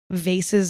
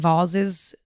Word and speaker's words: vase: There are so many cool, gorgeous, awesome vases and voses, depending on how you pronounce it.